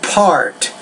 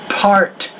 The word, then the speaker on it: part: a first of all with the word part you need to pronounce that with more air so part part A so the p is a babal consonant which means you need a lot more air than what you're doing seven but good wrong